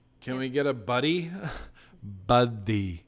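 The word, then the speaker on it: Buthey: Buddy. It's B-U-T-H-E-Y. That's how it's spelled.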